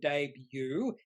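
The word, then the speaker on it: Daybue: the name of the drug which is called Debut d-a-y-b-y-o-o is how it's pronounced and also some more information in their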